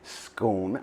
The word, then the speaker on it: scone: percent of people recognize the word as scone as in stone so being irish and